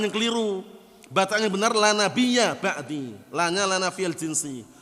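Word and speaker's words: لا نبيَّ: La nabiyya bacanya, ingat-ingat ya yang belajar nahwu. La nabiyya ba'di. Mereka ubah bacanya bukan la nabiyya, la nabiyyun.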